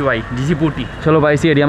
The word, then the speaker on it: Djibouti: लेकिन यह जी बूटी जी बूटी भाई इसको प्रोनाउंस करते हैं डी जे आई बी ओ यू टी वाई जी बूटी चलो भाई इसी एरिया में थोड़ा मोड़ा घूमते